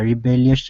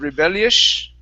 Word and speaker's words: rebellious: you pronounce that s point the tongue down to the bottom of the teeth instead of rebellish okay with the tongue